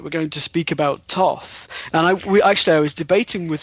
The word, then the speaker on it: Thoth: think some people say Thoth and others say Thoth. How do you pronounce the name? I have always said Thoth.